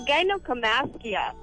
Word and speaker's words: gynecomastia: It's gynecomastia. All right, thank you so Male much. Now I know how to pronounce something that you won't be getting.